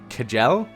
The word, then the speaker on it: Kjell: Next up, we have Shell, or some people call her Kjell. Shell is a Norwegian name, and, like, it's pronounced Shell.